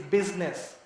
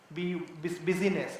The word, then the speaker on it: business: If you the way the word is said, it's business and not busyness, right? Or so B, it sounds like BIS and not BUS, right? So that's another thing to be noticed. Second is I is silent. So U is more important than I. U sounds like I, but I is silent in that word, right? It is to be seen. and not heard, right?